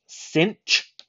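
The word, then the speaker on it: sinh: this is hyperbolic sign it's pronounced cinch s-i-n-c-h this is pronounced the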